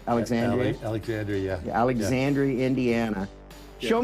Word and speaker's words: Alexandria: Alexandria, yeah.